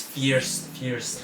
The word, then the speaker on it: First: But how they pronounce is fierce.